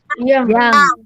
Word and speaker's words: young: Miss kadang masih dengar kalian baca Yang itu and you. yong. Dengarkan dulu. Miss suka kadang ada dengar kalian baca itu yong. Enggak ya, dalam bahasa Inggris itu kan memang antara yang ditulis dan cara baca sering beda ya. Itu tulisannya pakai huruf O, tapi dibacanya A. Yang gitu.